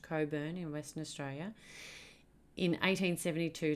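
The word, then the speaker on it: Cockburn: rhodes and coburn sound yes i know how it's spelled it's pronounced coburn in western australia in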